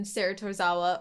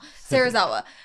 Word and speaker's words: 芹沢: You know, even if, like, in a world without Mob, maybe even Saratozawa or something. Sarazawa? Why am I saying it wrong now? Sarazawa.